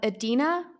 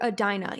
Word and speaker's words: Edina: please let us know i heard it pronounced both ways adina edina i think they're both beautiful names potato potato maybe you just say it differently depending where you're from or let's see uh